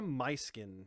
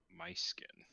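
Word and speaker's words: Myskyn: should walk up to her how did you pronounce it was numetra nice skin numetra my skin yep my skin m-y-s-k-y-n got it uh so we'll walk up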